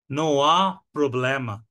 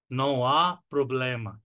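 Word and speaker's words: Não há problema: না আমি ভালো আছি নোয়া প্রবলেমা নোয়া প্রবলেমা এখানে কিন্তু আটা হা উচ্চারণ হবে না কারণ পর্তুগিজের এইচ কে আগা বলে আর এইচ টা আ এর মত উচ্চারণ হয় বা অ এর মত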